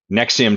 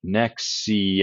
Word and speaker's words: NXIVM: And for anyone trying to find about Nexium, it's spelled a bit weird. It's spelled NX. How do they spell it? Nexium. I think it's NXIVM.